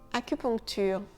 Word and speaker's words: acupuncture: Acupuncture, acupuncture. Le UN, il se prononce on.